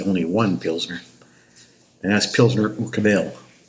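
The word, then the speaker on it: Pilsner Urquell: one Pzner, and that's Pzner Ukabel or UK. I think the the uh the stress is on the first syllable in the Czech language.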